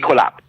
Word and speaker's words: Ecolab: I know I have it, but you did work with how do you pronounce it? Ecolab or Ecolab? Ecolab.